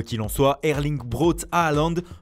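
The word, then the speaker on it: Haaland: en soit erling groth aaland prononcé hollande en norvégien ne laisse personne indifférent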